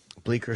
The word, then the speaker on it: Bleecker: The C is silent.